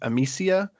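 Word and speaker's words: Amicia: play as I I I know her name is spelled A M I C I A, but because this is French again, I'm going to probably mispronounce it, but I think it's Amsia and Hugo or she says Hugo a lot.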